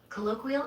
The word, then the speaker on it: colloquial: Colloquial is pronounced cut lowqu ule breakdown cole like co but softer low.